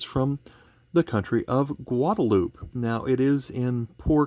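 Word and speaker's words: Guadeloupe: that would be pronounced guadalupe it was discovered by columbus but since it was settled by the french they use a french pronunciation of that word and the middle of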